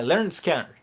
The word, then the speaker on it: Lynyrd Skynyrd: é que é o lenerd scanner sim nome certo para para se pronunciar é learn scare é uma brincadeira com